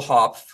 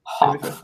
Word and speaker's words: Hopf: Hopf. That's how you pronounce it. How do you pronounce it? Hopf.